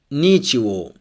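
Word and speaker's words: ничего: Next, go in the end of words becomes wo. For example, Nichivo, Piervava, Krasnava. Here, go is pronounced like wo or wa. If the O is stressed, we pronounce it wo, and if the letter O is unstressed, we pronounce wa. Nichivo. Here O is stressed, so we say Nichivo.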